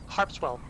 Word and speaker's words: Harpswell: Harpswell, yeah, like the town in Maine.